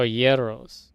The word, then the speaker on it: gyros: Oh, Yeros.